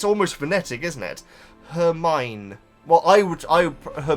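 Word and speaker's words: Hermione: the name that that's actually quite straightforward to pronounce yeah cuz it's almost phonetic isn't it her mine well I would I her mine is is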